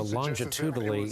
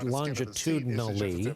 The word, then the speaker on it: longitudinally: the exception of Arizona longitudinally it's longitudinally got it I cheated myself on a syllable that first time uh you could make